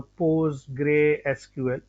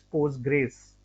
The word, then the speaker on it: Postgres: graes so basically uh we don't call a Poe gray SQL we just call as post Grays okay so this is